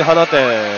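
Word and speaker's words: 放出: い、同じ花店ですけどね、はい、放出って書いて花店って読む。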